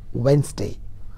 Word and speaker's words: Wednesday: next day i'm sorry the word is pronounced as wednesday wednesday okay the other things that you can notice in between they are completely silent let's go for the